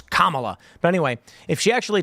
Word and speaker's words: Kamala: You don't know how to pronounce her name properly. It's Kamala.